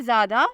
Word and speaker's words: ZADA: नाम है ज़ादा, स्पेलिंग है ZADA।